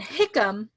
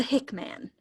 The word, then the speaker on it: Hickam: with an E and then Hickam he is the man the myth the legend but never has he been the hick man thank you this is